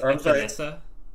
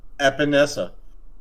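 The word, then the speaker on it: Epenesa: I think it's Epinesa. Epinesa. He's got so much power that there was a second S in there at one point. But then they took it away because that's not how you pronounce it in Iowa.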